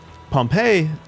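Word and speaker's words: Pompeii: it's not the so Pompei is the city the name is pompy in case you were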